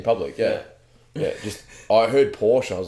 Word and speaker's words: Porsche: It's Porsche. No, it doesn't exist. There's no extra fucking syllable.